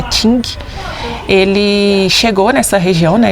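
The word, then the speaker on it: Qing: Mas no século XVI, na época da dinastia King, a gente fala King, mas a pronúncia correta acho que é Ting, ele chegou nessa região, né?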